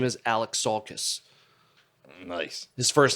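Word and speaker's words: Alexakis: an interview always saying if you want to pronounce my name i've always liked the band kiss but my last name is alex saul kiss yeah alex salkis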